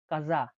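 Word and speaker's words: casa: উদাহরণটা হচ্ছে চাও বা কাজা। চাও বা কাজা। মানে চে উচ্চারণ হলে চাও হয়।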